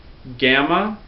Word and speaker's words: gamma: a b sound gamma gamma is always a hard G always like get never like garage never that J sound uh D Delta is